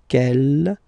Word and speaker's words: quelle: Okay, quel here, feminine singular, will become quelle with the S, feminine plural. And the good news is that you will pronounce them the same way.